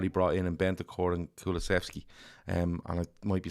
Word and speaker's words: Kulusevski: have and what he brought in Bentancur and Kulusevski. And I might be saying that name. I completely get that name wrong.